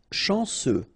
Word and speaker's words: chanceux: Chanceux. Final X not pronounced. And then remember, C, E, U will give you this se sound.